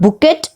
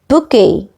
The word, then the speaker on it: bouquet: a bouquet of flowers please see to the pronunciation it is not bouquet it is bouquet a bouquet of flowers